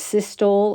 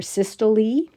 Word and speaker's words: systole: the heart is contracted, the scientific word for that is systole or systole, and the relaxation time is diastole or diastole. So you'll hear the words pronounced both ways.